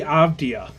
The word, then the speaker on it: Avdija: Avdija? Jenny Avdia.